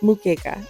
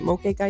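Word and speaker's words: moqueca: I definitely wasn't pronouncing it right. I believe it's pronounced Mukeka. I think I said Mokeka yesterday, but I believe it's Mukeka.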